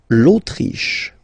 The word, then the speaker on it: Autriche: L'Autriche, okay, remember sh here.